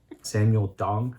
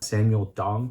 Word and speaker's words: Samuel Dong: time this dress by samuel dong you had to say it like it's email dong samuel dong samuel dong